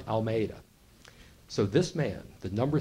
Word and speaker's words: Almeida: name is Commander Juan almea and I can't pronounce Spanish at all so you know you can look up his name it's but it's it's close I can get it's Commander Juan Almeida so this man the